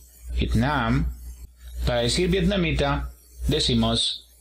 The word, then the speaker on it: Vietnam: Luego tenemos el país de Vietnam, y lo tenemos aquí, el acento en la segunda sílaba. Vietnam.